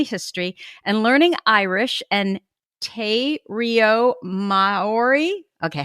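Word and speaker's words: te reo Māori: researching her family history and learning irish and tay rio mari okay how do you pronounce that te reo maori te reo mari fantastico okay te reo mari the language of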